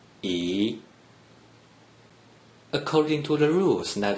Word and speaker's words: 一: According to the rule that you just learned, a single-digit 1 without any other digits in the third green circle is pronounced 一.